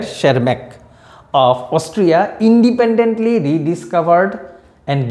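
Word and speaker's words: Tschermak: and Eric Von sharmak this spelling is sharmak T is silent here shermak of Austria independently rediscovered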